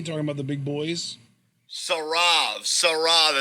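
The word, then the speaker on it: Saurav: Sarav is how it's pronounced.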